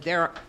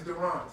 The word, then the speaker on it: Durant: Is it Derek? It's Durant. So I thought it was Durant. So thank you for correcting that.